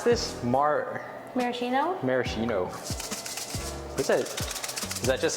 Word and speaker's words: maraschino: How do you pronounce this? Maraschino? Maraschino.